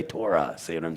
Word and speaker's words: Torah: I have to say Torah. See what I'm saying? So how would you actually say this properly? So it's Thorah. Kind of like Thor.